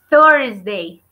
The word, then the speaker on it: Thursday: Y acuérdense que es TH, y acuérdense que el sonido de TH es como que nuestra lengua queriendo salirse de los dientes. Así como si no pudiéramos decirla. Thursday, Thursday. Como si fuéramos unas viboritas queriendo sacar la lengua.